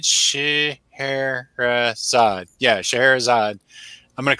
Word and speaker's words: Scheherazade: Yeah, Scheherazade.